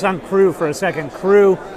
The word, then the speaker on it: Cru: crew for a second crew is spelled c-r-u like the french wine appalachian right so it's